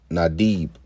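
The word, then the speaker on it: נדיב: So like it says, Nadib. That's how you say it.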